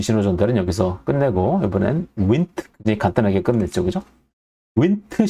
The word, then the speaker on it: Wnt: 윈트라고 읽는다. 왜 운트나 원트나 완트가 아니고 왜 윈트냐? 원래 윈트가 초파리에서의 윙리스 그리고 마우스에서의 인트라는 두 유전자의 이름이 합쳐져서 생긴 거예요. 그래서 윈트라고 쓰면 너무 기니까 되게 유전자 이름을 3글자로 하는 게 뭔가 멋있어 보이죠. 그래서 I를 빼고 WNT라고 쓰고 윈트라고 읽는다.